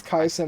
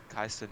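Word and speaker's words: Kai Cenat: you say his name I mean it's kaisa not Kai said not bro he [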